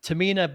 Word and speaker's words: Tahmina: Tamina, by the way, is spelled Tahmina, and is.